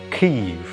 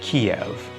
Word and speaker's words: Kyiv: And they've actually been pushing for quite some time, largely unnoticed by the West, for Kyiv to be the correct pronunciation instead of Kiev.